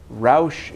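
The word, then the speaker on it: Rauch: say Ralph cannot Roush it's spelled our au CH but Roush and German means to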